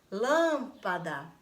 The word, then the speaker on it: lâmpada: Por exemplo, lâmpada. Quando você fala lâmpada, lâmpada. Qual foi a sílaba que você mais demorou quando você chamou? Lâmpada. O lã, não é isso? O lã. Então, eu vou acentuar na vogal que está aqui.